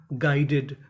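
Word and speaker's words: guided: ग्राउंडेड का मतलब जमीनी जी यू आई इसे पढ़ेंगे गाई डी ई डी टेड गाइडेड गाइडेड का मतलब होता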